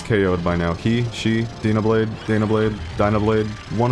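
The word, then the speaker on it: Dyna Blade: Dablade. Danablade. It's Dana Blade for me.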